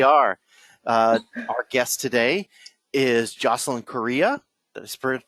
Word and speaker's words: Jocelyn Correa: Our guest today is Jocelyn Correa. Did I pronounce that right?